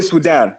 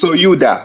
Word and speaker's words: Sudan: The proper way to pronounce Sudan because we we all say Sudan but the proper way to pronounce it is souda.